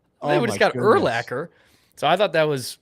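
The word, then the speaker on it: Urlacher: was hilarious my buddy didn't know how to pronounce his last name so he goes dude we just got brian uliter yes we got brian uliter legend who is brian eulacher oh yeah we just got erlacker so i thought that was one of the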